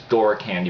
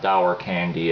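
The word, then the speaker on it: Dour Candy: I believe it's Door Candy pronounced, not Dower Candy as some people might think.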